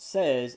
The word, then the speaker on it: seize: There is also seize, Seize, seize the day. In French is pronounced 16, and it's 16.